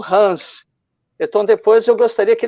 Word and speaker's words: HANS: Hans.